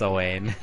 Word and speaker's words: Owain: Did I mispronounce his name? It's Owain.